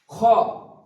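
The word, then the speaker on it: خاء: খ উচ্চারণ হবে কন্ঠনাটির শুরুর দিক থেকে। এটা শুরুর দিক এবং এটা হচ্ছে নিচ দিকটা হচ্ছে শেষ দিক। তো খ উচ্চারণ হবে কন্ঠনাটির শুরুর দিক।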